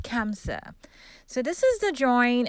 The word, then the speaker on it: Hamsa: sorry did i say hamsa kamsa it is spelled hamsa but it's pronounced kamsa so this is the